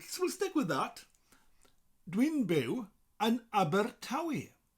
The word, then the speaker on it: Abertawe: that and aber tawi so think of the group the band abba and think of the tv show the only way is essex known by fans as tawi imagine that abba is making the theme tuned for the next series of tauwi abbar tawi abbar tawi so put the abba and the taoi together with a little rolling r in between abbar tawi i live